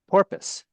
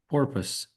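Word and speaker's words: porpoise: Porpus. Porpus. Porpus. It's pronounced much simpler than it's spelled. Um, okay. Vakita purpose. Purpose almost sounds like purpose.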